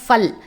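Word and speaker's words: फल: பழம், ஃப்ரூட்ஸ் அப்படின்னா ஃபல். ஆக்சுவலி பல் கிடையாது, ஃபல்.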